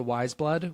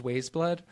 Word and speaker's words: Wise Blood: Which I think he mispronounced as Ways Blood.